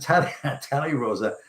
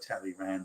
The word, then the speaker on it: Talleyrand: And Talleyrand's spelt tally as in counting rand, so it would look like Talleyrand, but they pronounced Talleyrand.